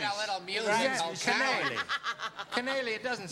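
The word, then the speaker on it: Kanaly: And- Canale. It Canale. rhymes with shillelagh, darling.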